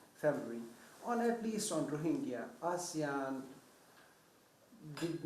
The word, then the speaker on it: ASEAN: But Asian or ASEAN? ASEAN. My weird pronunciation.